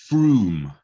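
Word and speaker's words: Frome: up i give up it's froome so like you and that i know no double o either all right well i'll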